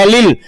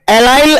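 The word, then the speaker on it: allyl: तो इस ग्रुप को बोलते हैं एलिल। तो ये हो गया आपका एलिल alcohol, एलिल alcohol, एलिल alcohol. ठीक है, ये लीजिए आप। आप इन इंग्लिश इसको प्रोनाउंसिएशन थोड़ा सा डिफरेंट है, एलाइल एल्कोहल, एलाइल एल्कोहल।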